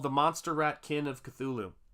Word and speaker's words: Cthulhu: Monster Rat Kin of Cthulhu, or Thulu, actually, properly pronounced.